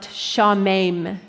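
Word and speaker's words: שָׁמֵם: The Hebrew verb here, or the Hebrew word, is a verb that is pronounced shamem, and it means to be appalled or dismayed.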